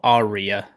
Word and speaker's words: Arya: Then pronounce the R more. Arya.